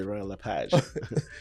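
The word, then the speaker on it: Royal LePage: Some French people say royal le page but I just say royal le page. Okay. So it's la page or le page. I say royal le page but technically it's the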